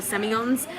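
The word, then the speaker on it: Sémillon: They make really beautiful Semillons. Some of the Aussies pronounce it Semillon, for those of you who've done to Australia and notice that they say it that way.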